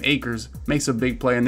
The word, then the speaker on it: Akers: told me that's how i say his name acres makes a big play and there's pat pete